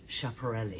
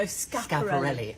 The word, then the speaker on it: Schiaparelli: Can I say on that phrase, I'm so glad you finally taught me how to pronounce what I used to refer to as Schiaparelli. No, Schiaparelli.